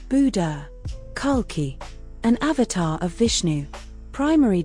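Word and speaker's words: Kalki: primary domain enlightenment secondary domain detachment pronounced Buddha Khalki, an avatar of Vishnu. Primary domain, end of the cosmic cycle. Secondary domain, restoration. Pronounced Kulki.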